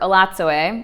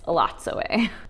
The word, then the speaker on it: Elatsoe: So Ellie, or Elatsoe, which I did not know how to pronounce that. I thought it was Elatso. In the book, they tell you it's Elatsoe.